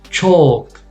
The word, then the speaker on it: chalk: Chalk.